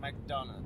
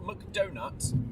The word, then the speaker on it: McDonagh: McDonagh, that's how you say it. Sorry. Not McDonut. McDonagh.